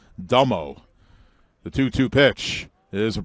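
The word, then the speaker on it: D'Emo: Michael Domo Michael Domo D apostrophe e-m-o and evidently pronounced dummo the 2-2 pitch is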